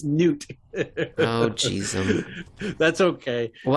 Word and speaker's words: Knut: angry comments from Scandinavians because I think it's Newt. Oh, geez. That's okay. Well, I was going to say pronunciations.